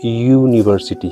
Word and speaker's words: university: Like for example, university here. Or the pronunciation of this particular word is being pronounced as you.